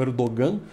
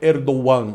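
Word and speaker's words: Erdoğan: como ele dogão né a pessoa promocionalmente como erdogan mas a pronúncia correta em turco é erdon o nome dele dia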